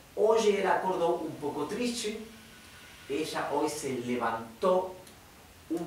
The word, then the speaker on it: triste: acord un poco TR Recuerden que la t con la e se pronuncia como si fuera h e Che triste triste bien Oye es hoy